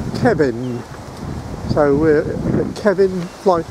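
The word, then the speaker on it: Cefn: of blocks is called a word that is spelt c-e-f-n and i've just discovered from a local that it's kevin so we're the kevin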